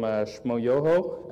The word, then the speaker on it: Shmoyoho: She teamed up with the guys from Shmoyoho, accent on the yo, and wrote a little song for, especially for Nicholas, so I'll show that now.